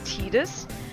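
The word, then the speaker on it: Tidus: default uh and I'm going to call him Titus his I know the official pronunciation of His official name is tetus which sounds incredibly stupid so his original name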